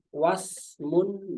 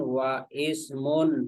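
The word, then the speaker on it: واسم: dia ada huruf wawu maka bacaannya wasmun gitu bukan gini bukan wa Ismun bukan hamzahnya ada tertulis tapi tidak diucapkan wasmun Ya misalnya di depannya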